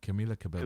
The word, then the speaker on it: Camila Cabello: He just mentioned "Senorita" by how do you pronounce her name? Camila Cabello.